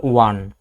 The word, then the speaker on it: one: আমাদের শূন্যস্থানের পরের ওয়ার্ডটা দেখতে হবে, শূন্যস্থানের পরে কি আসছে, ওয়ান, উচ্চারণটা দেখো তো, ওয়ান, এই যে ও যে আসছে ভাওয়াল প্রথম ওয়ার্ডটা কি, ও, ও এর উচ্চারণ কি হচ্ছে, ওয়া, ওয়ান, ওয়ান, তাহলে হচ্ছে ওয়ার মতো উচ্চারণ হয়েছে।